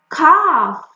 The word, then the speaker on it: calf: Calf, calf, the young one of a cow, calf.